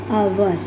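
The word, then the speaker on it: hour: एच क्या है? Silent है। ओ का साउंड आ रहा है। ओ इज़ a vowel. तो एन आवर।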